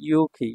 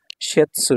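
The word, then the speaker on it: 雪: ঠিক আছে 67 নাম্বার কাঞ্জিটা দেখুন এটা হলো ইউখি ইউখি মানে তুষার ইতিপূর্বে আপনারা জেনেছেন আর এটা চাইনিজ উচ্চারণ হলো শ্বেতসু সেৎসু ঠিক আছে এটা যখন সিঙ্গেল থাকবে তখন হবে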